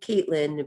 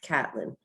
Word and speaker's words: Catelyn: correctly as well since a lot of people like to call me caitlyn but my name is catelyn so now let's get